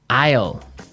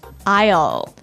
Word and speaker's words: isle: our second word now Isle Isle a i s l e Isle Isle it's a tricky word it sounds like the contraction of I will yeah but it's spelled